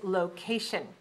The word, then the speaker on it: location: Number 10 is location. When we look in the dictionary, we see lo.ca.tion, which tells us that there are 3 syllables for location. Location. Where is the stress? Second, right.